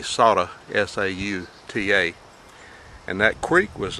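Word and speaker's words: Sauta: saudi creek i guess the correct way to say it will be soda s-a-u-t-a and that creek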